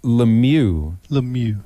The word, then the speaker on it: Lemieux: Lemieux. Yeah, so I'll teach you the French pronunciations of hockey players, and you can teach me that a fly shop is not a bait shop.